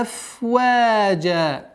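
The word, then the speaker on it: أفواجا: Аф-ваджа. Аф, обратите внимание, аф-ваджа. Фрикативность звука фа не надо уменьшать.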